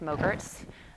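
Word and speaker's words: MOGRT: not frozen yogurt but it rhymes with yogurt at least that's how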